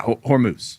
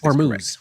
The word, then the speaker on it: Hormuz: the comments if I if I dared to pronounce this word wrong. Yeah, exactly. Yeah, could could work. But no, yeah, Hormuz is Hormuz.